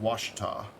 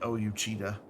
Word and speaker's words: Ouachita: like so washington is o-u-o-u-a-c-h-i-t-a and it's pronounced washita but like everybody's like oh you cheetah or al cheetah that's incorrect because it's named